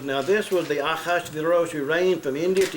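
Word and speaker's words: אחשורוש: and that name there, if you really pronounce it correctly in the Hebrew, it is Achashverosh. Okay? Not Ahaz uterus, or whatever that looks like it says. Ahaz uterus, uterus.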